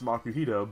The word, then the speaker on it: Makuhita: words just put together or makuhita I mean you could just sound that one out and it makes makuhita but as we've gotten